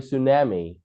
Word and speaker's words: tsunami: Tsunami. Tsunami. Here the T sound is silent. It's we do not say the tsunami. We say tsunami.